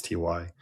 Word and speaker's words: ty: Like TY is not TIE, it's TY. So all Astral stuff, I say all the letters.